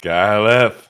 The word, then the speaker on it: KyleEff: from both Akko and Camden, how do you pronounce KyleEff? KyleEff.